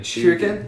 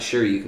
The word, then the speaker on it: shuriken: Shuriken? Yeah, not Shoryuken, but Shuriken.